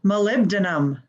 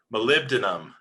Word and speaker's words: molybdenum: before me it's pronounced molybdenum hi i'm tammy molybdenum hey guys it's wyatt it's pronounced molybdenum i think what is molybdenum you know if you break it down molly denim i would have chosen